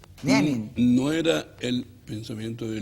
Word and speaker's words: Lenin: Tú sabes de sobra que no se dice Lenin a la chilena, no, pues. La E se diptonga. Ajá. Lenin. Lenin.